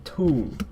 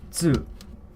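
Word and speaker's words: つ: where u, ku, su, we don't say tu, we say tsu. It's you add the T sound in front of the su sound, tsu, and it has its own character.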